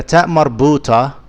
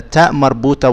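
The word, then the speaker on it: تاء مربوطة: The ta marbuta is unique. If it's at the end of the speech, it is pronounced as a ha.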